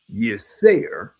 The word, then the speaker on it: Yirser: that, he said that his interpretation of the word Asar is Y-I-R-S-E-R, and it's pronounced Yirser.